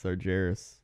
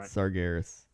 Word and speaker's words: Sargeras: tell you and then you tell me the right the real way to pronounce it you ready yeah Saras I think it's sargeras no you're wrong I'm right sargeras I don't even know